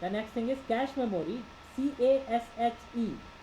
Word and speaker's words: cache: CASHE, CACHE spelling है, लेकिन पढ़ते हैं इसको CASH जैसे कैश.